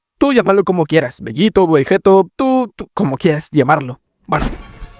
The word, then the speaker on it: Vegeto: Y espera, espera, que ya te estoy viendo y ya estoy viendo que estás bajando los comentarios y diciéndome, "No se dice Vegito, se dice Vegeto."